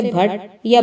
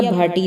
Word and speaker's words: بھٹی: راجپوت قبیلہ ہمیشہ سے بھٹ یا بھاٹی تھا، یا بھٹی، جیسا آج کل ہم اس کا تلفظ کرتے ہیں۔ لاہور کا مشہور بھاٹی